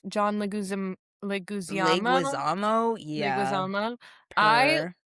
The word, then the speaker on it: Leguizamo: How do you pronounce John Leguizamo?